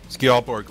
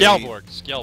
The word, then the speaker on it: Skjaldborg: Skjaldborg, or you could say Skjaldborg.